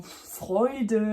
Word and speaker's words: Freud: Une autre diphtongue, c'est donc EU, A, umlaut U et EU qui se prononce oi. Oi, donc ça, c'est pas aïe, c'est oi. Et on l'a par exemple dans Eule ou dans Freud, dans certains mots comme ça. Quand vous voyez ça, EU ou EU, qui se prononce d'ailleurs aussi EU, en allemand, c'est oi.